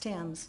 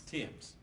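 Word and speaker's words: Thames: all right Mary Emma themes is the other young lady lost life yes right and the name is spelled t h a m s it's pronounced Tims Tims and your information is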